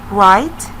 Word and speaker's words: write: The last group that we have in this activity, write. Write. He's writing with a pen. The word that we have here, write, starts with W, R, I, T, and E, and the W here is silent.